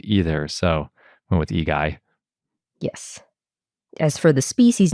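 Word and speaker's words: Igai: it in Latin that's igy and sometimes we just default to Latin if we can't figure out how you'd say it in another language because I think in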